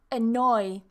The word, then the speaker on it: annoy: Annoy. Two syllables. Annoy. So we have two N's here, but we don't say annoy. It's not a double consonant, annoy. It's still just one, annoy, annoy.